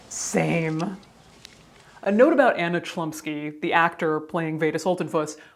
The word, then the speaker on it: Chlumsky: It has come to my attention that the actress' last name is Chlumsky.